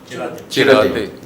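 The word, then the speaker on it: Chiratae: Sudhir Sethi, sitting next to me, the founder and chairman of how do you pronounce that? Chirate? Chirate.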